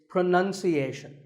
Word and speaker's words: pronunciation: you say it well we say pronounce pronounced and pronouncing but pronunciation there's no noun in this word it's pronunciation word number two is